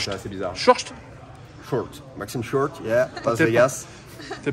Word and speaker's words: Short: Ouais, ça se prononce, c'est assez bizarre. Short.